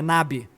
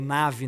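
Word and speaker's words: נביא: Natã, ele é chamado por um termo, é Nabi. Ele é o profeta Nabi, ou Navi, né? Depende da pronúncia, que é o profeta proclamador.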